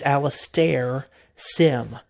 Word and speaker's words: Alastair Sim: like I said, I believe his name is pronounced Alastair. It's Alastair Sim.